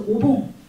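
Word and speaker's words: お盆: 그래서 봉, 그러니까 우란분의 분을 봉이라고 읽는데 앞에다 오자를 붙여서 오봉.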